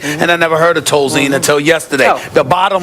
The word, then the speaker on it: Tolzien: Scott Tolzien.